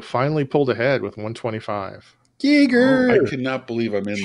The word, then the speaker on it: Giger: And I've always pronounced it Geiger. I'm not sure what the official pronunciation is, but it's Giger.